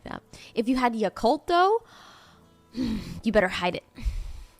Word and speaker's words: Yakult: You don't know what a Yakult is? Oh no. What's that, Humblebee? Thank you for the 17 months. A Yakult. Am I saying it wrong? Y-A-K-U-L-T? I'm not saying it wrong.